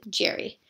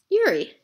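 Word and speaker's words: Jerzy: a picture of Yuri which in America we would pronounces Jerry but in Poland is pronounced Yuri he was part of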